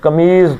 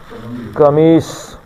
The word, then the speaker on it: قمیص: لفظ ہم اردو میں عام طور پہ اردو میں لکھتے ہوئے ہم صاد کو کیا پڑھ دیتے ہیں؟ ضاد پڑھ دیتے ہیں، قمیض پڑھ دیتے ہیں۔ تو اصل میں اس کا عربی میں تلفظ کیا ہے؟ قمیص۔ اور اس صورت میں